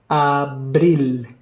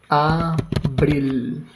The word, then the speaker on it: abril: Very similar to the English, but just the pronunciation of the vowels is very different, right? You would say April, A, right? We say A. Abril. Okay, just changing the P, right? But then the vowel sound is so different.